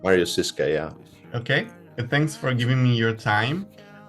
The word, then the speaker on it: Marius Ziska: Is correct the pronunciation? That is correct, Marius Ziska, yeah.